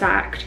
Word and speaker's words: AKT: this one from akt i think it's pronounced act they emailed me a